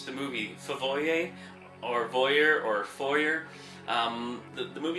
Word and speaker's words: Fvoyer: the movie favoy or voyer or foyer? Um the movie is pronounced foyer and the v is inserted to kind of be a play on two words voyer and foyer because it's people watching someone in a foyer.